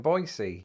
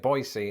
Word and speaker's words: Boise: at the airport in boisey also if you're wondering why I'm pronouncing it boisey instead of Boise that's how the locals told me to say it so if they lied